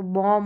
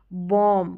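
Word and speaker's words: bomb: ही नहीं आना चाहिए रूल के अनुसार तो बॉम हो गया बम बम ना कि बॉम क्या है अब यहां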